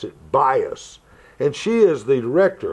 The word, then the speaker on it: Buis: bias I love the way that name is bias it's buis but you have to switch the vows and pronounce it bias and she is the director of Christian education